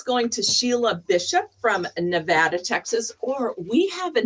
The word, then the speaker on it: Nevada: It's Nevada because I traveled there and they Ah. said be sure to say it correctly.